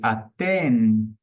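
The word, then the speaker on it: אתן: E aten você encosta a sua língua na parte inferior dos dentes superiores. Aten. Aten.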